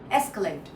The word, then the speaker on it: escalate: Escalate. So there are three parts escalate and the first one uh first one is stress escalate.